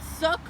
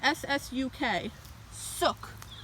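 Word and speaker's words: 쑥: the koreans like it they call it suck which you would meaning spell it in english letters without the without the um korean lettering as ssuk suk you can uh yeah you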